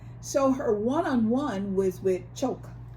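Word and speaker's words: Chock: her oneon-one was with choke Chuck Chuck but it's spelled like c h o c k but yes Chuck Chu so um she told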